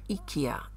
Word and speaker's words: IKEA: unique little thing I purchased at Ikea or Ika it's pronounced I will put it in the pot